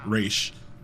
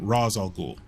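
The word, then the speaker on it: Ra's al Ghul: they pronounce his name race and then Nolan they pronounce his name Rosal Ghul um I did not like that pronunciation very well the test run at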